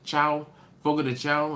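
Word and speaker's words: Fogo de Chão: Please find the closest Fogo de Chao to you, and again, it's Portuguese, so CHAO. In English, Chao, Fogo de Chao is usually how it's said, but in Portuguese, it's Chao, Fogo de Chao.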